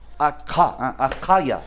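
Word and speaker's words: אכא: Acaya sería la pronunciación. Porque la letra Kaf.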